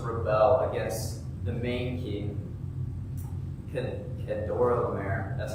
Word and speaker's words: Kedorlaomer: And so the 5 kings on the one side chose to rebel against the main king, Kedorlaomer.